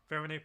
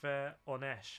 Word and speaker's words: Voronezh: Verone pronounced Veronesh. Oh, Veronesh. My bad.